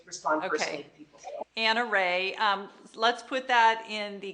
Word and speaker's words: Rahe: Anna Rahe. Let's put that in the comments because Rahe is spelled R-A-H-E. Yeah, Rahe. We remember it like Rahe.